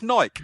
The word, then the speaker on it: Nike: they like but it's naik it rhymes with bike not